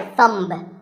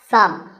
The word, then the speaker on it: thumb: It's not my thumb. It's pronounced thumb.